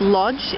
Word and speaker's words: Łódź: the 12th 2012 from in english also often pronounced lodge in poland or both